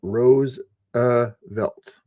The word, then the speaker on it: Roosevelt: Uh both Franklin Roosevelt and his cousin Theodore Roosevelt pronounced their name Rose uh Velt like the rose flower, you know.